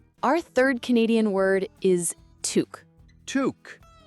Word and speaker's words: toque: Our third Canadian word is toque. Touque. T O U E. So, Chloe, is this like a special type of Canadian hat? That's exactly right, Liam. A toque, pronounced toque or tuck, is the Canadian word for a knitted winter